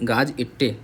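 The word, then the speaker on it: gazette: तो गजट की स्पेलिंग हो जाएगा गाजे, गाज इट्टे, बोलो एक बार, GAZ, गाज इट्टे, ETTE, इट्टे। कैसे बोलोगे, गाज इट्टे याद रखना हमेशा।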